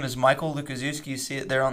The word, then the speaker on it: Lukaszewski: So it's Lu-ka-zoo, like where the animals are, and ski. And that's how you say my last name.